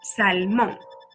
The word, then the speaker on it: salmón: Salmón. Salmón es una palabra aguda, pues la sílaba tónica es la última sílaba de la palabra, salmón.